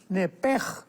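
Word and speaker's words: נפש: porque es la palabra nepesh con sh al final. Neph. En el hebreo se pronuncia eh la sh con j. Entonces, la pronunciación hebrea es nepej. Al salirse el nepej, el alma.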